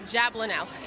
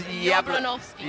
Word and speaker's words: Jablonowski: She's like, my last name is not Jablonowski. It's Jablonowski. Jablonowski.